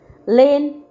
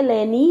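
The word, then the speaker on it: lane: बोलते हैं है ना लेन एल ए एन ई अगर इ भी बोलांगे तो लेनई हो जाएगा है ना इ हो हो गया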